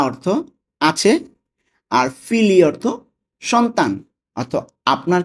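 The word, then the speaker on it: figli: আপনার কি কোনো সন্তান আছে, এটার ইতালিয়ান কি হবে, লেই আ ফিলি। লেই আ ফিলি, দেখুন এখানে বাংলা উচ্চারণটা দেওয়া আছে লেই আ ফিলিয়ে, কিন্তু এটা ফিলি হবে, আমার একটু মিস্টেক হয়েছে।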